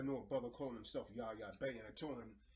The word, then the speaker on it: Yah: Another name is Yah. Yah. And you gotta, I know a brother calling himself Yah Bay, and I told him that means, God,